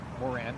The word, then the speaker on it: Moran: Moran, I believe is how you pronounce it.